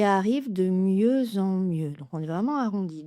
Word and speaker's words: de mieux en mieux: Le X est muet bien entendu et la liaison est en Z entre le X et la voyelle nasale en. Il y arrive de mieux en mieux.